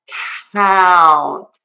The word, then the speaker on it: count: So, to fix this mistake, we are not going to keep that closed mouth for that sound. It's not going to be relaxed and open. It is going to be tenser and wider.